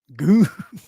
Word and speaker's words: Gunner: By the way, the U in Gunner is pronounced Gona. Goona. Goose. What do you mean, goose? Goona. I'm going to call him Gunner.